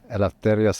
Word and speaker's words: Eleftherios: Eleftherios.